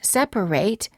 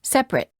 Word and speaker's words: separate: of the word separate is pronounced eight if it's a verb as in separate and it when it's a noun as in separate word pairs for practice